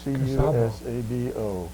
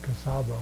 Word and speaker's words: Cusabo: Now, the back of your discharge document says that you were on the USS Cusabo, C-U-S-A-B-O. Yeah, they pronounce that Cusabo.